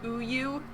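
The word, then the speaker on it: 우유: The Korean word for milk is pronounced uyu, and that's my favorite way to refer to milk.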